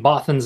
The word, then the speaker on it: Bothans: If you're saying Bothans, that is correct for 2 points. Sorry, I was pronouncing it Bothans, but yeah, Bothans. Sorry. B-O-T-H-A-N-S.